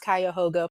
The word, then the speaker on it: Cuyahoga: By the way, you pronounced Cuyahoga perfectly.